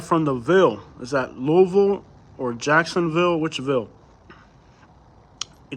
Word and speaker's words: Louisville: Like, once our parents aren't here, it's pronounced Louisville.